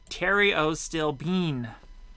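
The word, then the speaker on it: pterostilbene: bottles after hearing you talk about maybe uh Terios stilbene oh you're telling me how to pronounce this to work Theriot stilbene okay it's in the same drug family as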